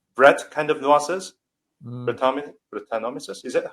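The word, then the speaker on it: Brettanomyces: Breton brutanomis is that how you say it right? Yeah. Bretonomiases.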